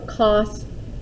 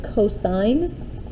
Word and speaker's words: cosine: sin or cosine or cos these this here is pronounced as sine theta c o s stands for the word cosine and t a n